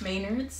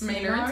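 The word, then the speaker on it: Maynards: Maynard's? Maynard's, not Maynard.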